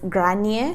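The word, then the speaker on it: Gráinne: aquel entonces es grande al parecer se pronuncia según mi investigación es grañe se pronuncia pero yo la verdad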